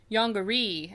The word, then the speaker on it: Yongary: a giant reptile it's yonger yeah or yonger as they pronounce it in the American dub would you like to